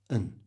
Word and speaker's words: and: and naturally in English don't pronounce the d it's silent and the a at the front becomes the schwar sound so and is pronounced n so this phrase is